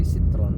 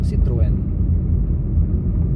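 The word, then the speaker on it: Citroën: Ang pronounce dito ay citron. Pero pag binasa niyo ng parang pagbasa niyo ng ano, Citroen, Citroen, Citron, Citroine.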